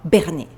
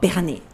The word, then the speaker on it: Bernays: entendu parler, Monsieur Edouard Bernays. Je vous le note, mais je le prononce à la française.